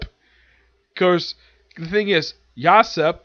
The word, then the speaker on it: Yasopp: Of course, the thing is, Yasopp, that's how you pronounce it, despite the fact his name is basically spelled like Usopp, except with a Y instead of U.